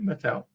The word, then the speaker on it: Mattel: Did I pronounce it correctly? Yeah, Mattel? You did, Mattel.